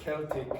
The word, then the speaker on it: Celtic: The pronunciation of that is like that, okay, Celtic. Now, sometimes you will see some football teams or basketball teams pronounce with S, but they're American, and sometimes in Glasgow, for example, they're called Celtic. Okay? They are ignorant.